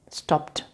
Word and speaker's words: stopped: This is not pronounced stop it. How do you pronounce it? Stopped.